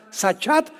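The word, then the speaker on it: שחת: La palabra corromper también es importante porque la palabra hebrea sachat se escribe con s como suena sachat con t de tío al final.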